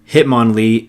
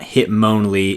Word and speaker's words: Hitmonlee: Machamp, not Machamp, Hitmonlee and Hitmonchan, not Hitmonlee and Hitmonchan. And now, without further ado, here's the Pokemon pronunciation that I could not believe.